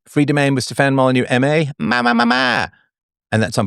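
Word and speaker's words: Molyneux: Polish gay Steven and aristocratic French with a silent X at the end.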